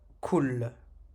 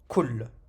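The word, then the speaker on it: كُلْ: Donc là, cette damma, on va la prononcer, mais la soukoun, on ne la prononce pas. On prononcera seulement la lettre. Kul. Kul. Kul. Tout simplement. On s'arrête, on retombe sur la lettre comme ça sans lui prononcer, sans lui ajouter un accent.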